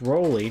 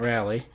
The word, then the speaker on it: Geoff Rowley: I now have learned it's pronounced Rowley, not Rowley.